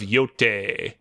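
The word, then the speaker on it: Yōtei: in Japanese, when you have like an E and an I together like that, you just pronounce the first vowel.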